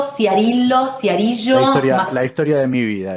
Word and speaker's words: Ciarillo: Martín, me decís si pronuncié bien tu apellido, porque no hay cosa más fea que te pronuncien mal el apellido. Es Ciarillo, Ciarillo.